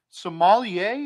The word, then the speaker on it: sommelier: uh today's up for debate we're gonna be sommelier is that how you pronounce it yes ma'am are you familiar with